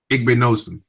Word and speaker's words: Igbinosun: No, you got to take it into consideration at cornerback David Igbenson. How do you say that? Is cornerback Igbinosun. Davison Igbinosun.